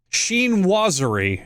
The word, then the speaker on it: chinoiserie: she knows hang on sheen wazari apparently is how that's pronounced during europe's sheen wazari